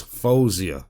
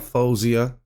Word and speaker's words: Faouzia: doing her reactions but it's fozia because I heard her say herself her name hi I'm fozia so I don't want